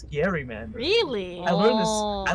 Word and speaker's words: gerrymandering: It's not gerrymandering. It's Gary mandering.